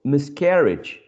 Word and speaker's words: miscarriage: is miss miscarriage so carriage is already stressed here so when we add the sub dip sorry the prefix miss we're not shifting the stress the primary stress from the syllable care to miss right so when we add